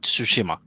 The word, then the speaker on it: Tsushima: giveaway for ghost of tsushima i don't think i'm pronouncing that correctly um sushima all right so like a silent t almost it's like tsushima yeah hey rook hey